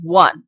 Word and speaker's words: one: Now look at the next examples once and one. In these two words O is producing W sound and in all other these words O is producing O sound.